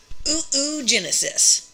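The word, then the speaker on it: oogenesis: uterus yay mom so we called this process of making eggs ooo Genesis and I swear to you that's honestly how it's spelled ooo which is a Greek word for egg Genesis and then for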